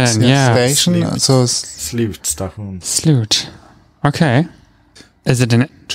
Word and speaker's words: Slutstation: Slutstation. Oh. Whew. Which is spelled. We'll spell it out for you. So it's SLUTSTATION.